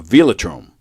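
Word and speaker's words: velodrome: A veatrome.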